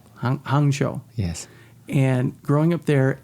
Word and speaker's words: Hangzhou: How do you pronounce the name of the little town you grew up in? Hangzhou. Hangzhou.